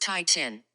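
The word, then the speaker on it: titin: for the longest word English language Titan is pronounced Tai Chin however the full name of the protein is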